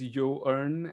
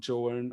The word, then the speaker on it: Joern: us to this tool called as YN it's pronounced as y ear and not joern or JN or whatever but we don't care you know